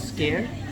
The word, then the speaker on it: skyr: It's called Scare, but it's not like scare where you are scaring people. It is spelled as SKYR.